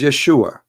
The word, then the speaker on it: Yeshua: The correct word in the Hebrew is Yeshua.